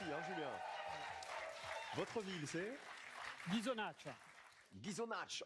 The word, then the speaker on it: Ghisonaccia: Votre ville, c'est Ghisonaccia. Ghisonaccia. On prononce pas le A. Si, on le prononce. On l'aspire. Ghisonaccia.